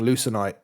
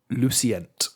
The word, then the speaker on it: Lucenite: of get letters muddled up and then just pronounce it that way for the rest of time. So I've been calling Lucenite Lucient for like a week, and then I've listened